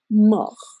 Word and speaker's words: mort: Terminan en U, como venir, venu, devenir, devenu, y morir, que termina en T y se pronuncia mort, hasta la R.